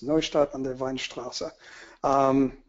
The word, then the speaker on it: Neustadt an der Weinstraße: Actually, you did pretty well with the pronunciation. It's Neustadt an der Weinstraße.